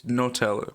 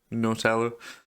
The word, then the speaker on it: Nutella: It's It's Nutella because it's got nuts in it. Not Nutella.